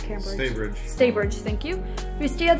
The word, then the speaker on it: Staybridge: We stayed in the Cambridge, is that how you pronounce it? Or the, not Cambridge. Staybridge, thank you.